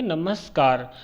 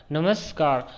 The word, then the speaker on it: नमस्कार: नमस्कार का आप सही से उच्चारण करेंगे नमस्कार, नमस्कार, तो अंक की बिंदी और नमस्कार आपका आ रहा है तो आपका विसर्ग संधि ही हो जाएगा।